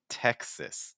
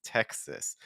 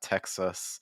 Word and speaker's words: Texas: gonna see there so this is a state in the United States Texas and I know you see that A S at the end but it actually is going to finish with a short I sound like in Texas Texas Texas so make sure that you're not just using like a schwa sound so it's not Texas or it's not text ah it's more Texas we see this at